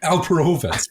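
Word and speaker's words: Alperovitz: by alvaro's I can't even say it right alperovas a-l-p-e-r-o-v-i-t-z um and yeah you're right they're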